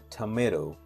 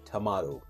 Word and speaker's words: tomato: In American accent, we say tomato, and in British accent, we say tomato. So we have two syllable in this one, three syllable, and we pronounce the word in a different way. We say tomato in American pronunciation and tomato in British pronunciation.